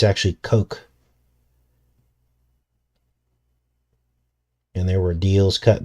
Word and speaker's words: Koch: there's something strange going on there yes Coke k-o-c-h a lot of people are making fun of me because I was calling him Koch at first I didn't know how to pronounce his name but it's actually Coke and there were deals cut behind the scenes